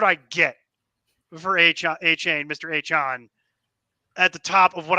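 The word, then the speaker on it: Achane: A-Chain, who I believe he pronounces his name to be pronounced, he prefers his name to be pronounced A-Chan.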